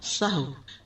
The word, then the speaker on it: سہو: سہو ہوتا ہے، سہو نہیں ہوتا. سب لوگ اپنا تلفظ بھی درست کر لیں. سہو جیسے لغو، ٹھیک ہے، کرم، نفس، سہو.